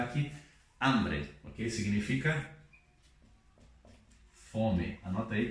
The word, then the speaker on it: hambre: Escrevemos com H, mas não pronunciamos H.